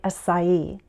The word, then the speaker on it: acai: Most American English speakers say acai, but some may choose to use a long I sound, as in acai.